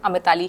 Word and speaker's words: अमिताली: Unique लगता है एंड बहुत सारे लोग उसको गलत प्रोनाउंस करते हैं एंड I don't like it. इसको प्रोनाउंस सिर्फ और सिर्फ अमिताली ही किया जाता है।